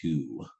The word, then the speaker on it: to: Did you catch that marking above the o, oo?